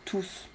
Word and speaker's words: tous: Là, tous, il est tout seul, d'accord? Alors, il faut prononcer le S. Je ne sais pas pourquoi, mais c'est comme ça, c'est la règle.